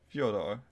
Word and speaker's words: Fyodor: Yeah, this past week, the Fyodor Pavlov Tarot, and I believe I pronounced that correctly. Fyodor, yeah.